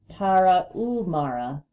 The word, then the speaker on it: Tarahumara: The Tarahumara, pronounced Spanish style by swallowing the H, Tarahumara, may be the healthiest and most serene people on earth and the greatest runners of all time.